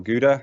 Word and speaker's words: Gouda: not far from cloudera or gowda or gouda as if you're not dutch you might pronounce it very cliched i suppose